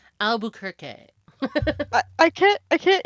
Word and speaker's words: Albuquerque: the count of aluer I'm trying to say it like not like American it's Albuquerque but it's in Portuguese it's Albuquerque I I can't I